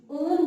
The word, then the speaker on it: one: कीटोन के लिए जो सफिक्स यूज करते हैं दैट इज ONE, ओन बोलते हैं, वैसे तो ये वन की स्पेलिंग है बट ओन बोला जाता है इसको, एंड द सिंबल